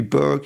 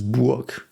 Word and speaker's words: Burg: I've heard this pronounced Burg in several contexts, and I do think in English, if you would see this would be Burg in some cities, but in German this is Burg.